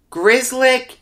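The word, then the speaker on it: Grzelcyk: pronounce anything else but i can pronounce grizzlik g-r-z-e-l-c-y-k yeah he pronounces it grizzly grizzlick is a solid defenseman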